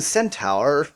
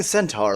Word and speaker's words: centaur: corner the pretty young Cent Tower wow why can't I pronounce the word Centaur the pretty young Centaur looks at you and